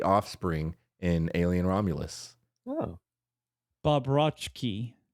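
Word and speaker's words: Bobroczkyi: Bobrovsky. Bobrovsky. He is the CZ is a ch.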